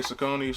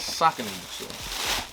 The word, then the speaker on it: Saucony: the i know a lot of people say sakoni so but um according to the website the correct pronunciation of the company name is soccer fun fact if you care about it if